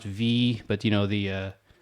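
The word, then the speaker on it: VVVVVV: forever um the game i think it's just pronounced v but you know the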